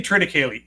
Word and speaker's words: Triticale: Now, I say Triticale. How would you say it? That's exactly how you pronounce it.